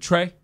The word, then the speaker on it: Trey: So we go do the show and stuff like that, and I meet his, DeRay has this bodyguard, this dude named Trey. Oh, one syllable.